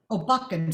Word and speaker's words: Backen: I know, is to lighten the second syllables of some of the two-syllable words, like buffen, right? Okay. Backen, sorry, I said the wrong word. Yeah. Yeah, backen. So, alle meine Feinde auf den Backen. So loud on ba and soft on ken, right?